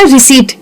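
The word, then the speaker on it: receipt: लेकिन इंग्लिश में ऐसे बहुत सारे वर्ड्स होते हैं। जैसे हमारा फेवरेट वाला है ना रिसीट। ऐसे बहुत सारे वर्ड्स हैं जिसमें पी बीच में साइलेंट हो जाता है।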